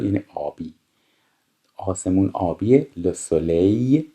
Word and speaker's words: soleil: le soleil، این ال آخرش خونده نمیشه.